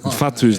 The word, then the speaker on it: Fatu: So to answer Marshall's question, it's Fatu. Yeah. Oh, Islander names are so Oh, it's crazy. Yeah. Fatu's not like the Māori Fatu, WHATU. No, It's the F-A-T. FATU.